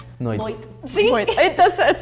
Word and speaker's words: noite: In Brazil, São Paulo, we say noite. Some parts of Brazil, you're gonna also hear noite, which is like a TT. We say our T when it next after the T has a E, a lot of times, or the letter E. We're gonna pronounce this as a ch.